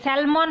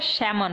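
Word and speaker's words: salmon: দেখো, এখানে এল কিন্তু সাইলেন্ট থাকবে, তাই স্যালমন হবে না, এটা স্যামন হবে, ওকে।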